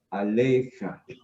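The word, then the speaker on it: עָלֶיךָ: Aleja. ¿Listo? Recordemos que esta iod no se pronuncia. ¿Listo? Porque antes viene una segunda.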